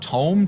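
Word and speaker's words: Toem: we are getting uh to him or Tome t-o-e-m is how it's spelled uh which is a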